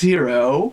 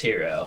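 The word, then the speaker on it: Hiro: sure yeah it's it's hero I've also watched multiple animes where it's spelled that way and it is pronounced hero yeah and then hero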